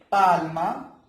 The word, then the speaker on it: palm: Otro es palma, palm. In English, L is silent.